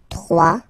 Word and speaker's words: trois: Trois. Final S not pronounced. Trois.